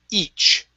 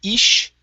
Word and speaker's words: each: And then the last one is the word each. Okay, so here you are pronouncing a SH sound, saying ish. Okay, so remember the CH, this is a hard sound. We're going to stop the air.